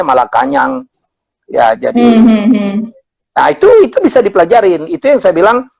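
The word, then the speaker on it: Malacañang: Jadi saya pikir itu adalah istana di Filipina itu bukan Malacanang, bacanya Malakanyang.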